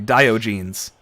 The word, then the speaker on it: Diogenes: it right into diogenes oh sorry let me pronounce that correctly diogenes right here corner here for e stalking sending